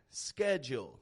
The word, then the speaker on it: schedule: If you're speaking to an American or a Canadian like me, schedule, getting that ke sound, will serve you well.